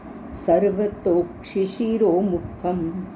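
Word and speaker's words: सर्वतोक्षिशिरोमुखम्: ये जो वर्ड है सर्वतो क्षिशिरो मुखम, ओ के बाद एस साइलेंट है। वास्तव में हमारा शब्द है सर्वतः प्लस अक्षी, अक्षी का मतलब आँख, प्लस शिरो, शिरो का मतलब सिर, प्लस मुखम, प्लस मुख। सर्वतः हम इसको पढ़ेंगे सर्वतोक्षिशिरो मुखम।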